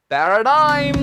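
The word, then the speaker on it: paradigm: तो इसमें हम जी नहीं बोलेंगे, ये है पैराडाइम।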